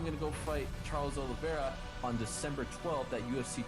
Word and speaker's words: Oliveira: Yeah, Oliveira.